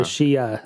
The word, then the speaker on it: Shia: The Shia is how you say it.